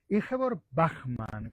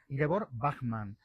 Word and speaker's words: Ingeborg Bachmann: Yor Bachman. Confío en decirlo bien, luego nos lo pronuncias. Ingebor Bachman. Bueno, he estado cerca.